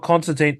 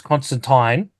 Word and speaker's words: Constantine: because it's alen Mo it's not Constantine it's Constantine oh off with that